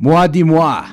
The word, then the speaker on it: Moi dix Mois: will be talking about mua di moi that's right the d-i-x there in the middle is not pronounced x it's dies as in the french word for ten so no more moi